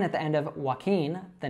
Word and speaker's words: Joaquin: So it's Joaquin, Joaquin. Now a good way to remember this is that it sounds like the verb walking. But the difference here is that that NG is a bit of a